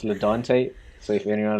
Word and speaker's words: Ladonte: don't take what i just realized i mispronounced your name so it's ledante so if anyone like